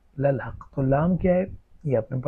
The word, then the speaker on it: للحق: اس لیے کہ یہ انا کا اسم ہے۔ للحق اصل میں تھا الحق، اور لام پیچھے کو لگا للحق، تو اس میں جو الحق کی حمزۃ الوصل تھی وہ گری گئی، تلفظ سے بھی گر گئی اور کتابت میں سے بھی گر گئی، تو یہ ہو گیا للحق۔ تو لام کیا ہے؟